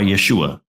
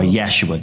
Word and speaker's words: Yeshua: So it was Yehoshua or Yeshua, or Yeshua, depending on how you want to pronounce it.